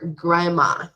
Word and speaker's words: grandma: okay grandpa or grandma we do not pronounce the d so we say grandpa grandpa or grandma grandma okay there is also